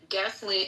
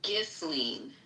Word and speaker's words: Ghislaine: So from Radar Online, Gasoline, and we've already discussed the proper pronunciation of her French name, and I know